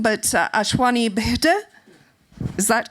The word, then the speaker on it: Ashwini Bhide: And please correct me if I get the pronunciation wrong, but ASHWINI BHIDE, is that correct?